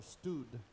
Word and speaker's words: Studd: Le voy a contar la historia de un señor que se llamaba Charles Studd, o Studd, en pronunciación hispana.